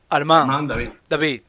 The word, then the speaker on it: Armand David: Bien, En francés hazlo todo agudo. Si es Armand. Armand David.